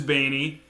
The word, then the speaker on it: Baney: It might be maybe young people say that, but no, it is Baney. It's a proud Irish name, and I'll kindly thank you to pronounce it correctly.